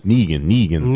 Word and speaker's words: Negan: His name is Negan. I was like, I knew it was something like a single syllable. I'm sorry. No, that's 2 syllables.